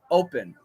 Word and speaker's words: open: the word open o-p-e-n open and I say open with an M but a lot of people here do that too in Vermont so that's not a difficulty but that's something that's not standard when do you use